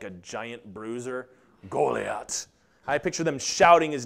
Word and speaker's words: Goliath: little bit his his name would have been pronounced golat doesn't that just sound like a giant Bruiser golat I picture them shouting his name when he's